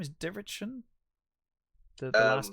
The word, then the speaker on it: Dietrichson: How do you pronounce the name? Is Dirichon the last name of them? I forget the last name. Dietrichson.